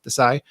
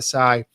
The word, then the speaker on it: Desai: I think that's how he pronounces it, Desai.